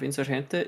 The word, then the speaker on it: Insurgente: And I was told in the chat that my pronunciation of Insurgente is the right one.